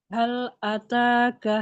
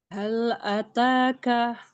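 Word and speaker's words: هَلْ أَتَاكَ: Lamnya ditipiskan yuk. Jangan sampai naik lidahnya.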